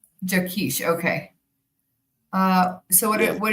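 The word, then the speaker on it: Jaquish: John Jakish. Jakkesh.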